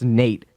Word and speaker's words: N8: yeah because like the the N8 is supposed to be like my name it's Nate and then everyone's like oh so just and then they type in like Nate I'm like well it's